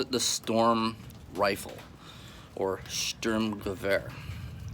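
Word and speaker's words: Sturmgewehr: the storm rifle or Sturm Gewehr I don't speak German but I think it's pronounced similarly to that so the stronger air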